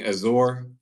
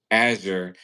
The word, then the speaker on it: Azure: of a play for making Azour, how is that how you say it? A Azure. Azure the um backbone for open AI in all of uh GPT.